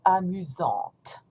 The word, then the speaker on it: amusante: Don't pronounce the T, amusant. And here, when you pronounce it in the feminine form, you're going to pronounce the T because of the E. So amusante, amusante.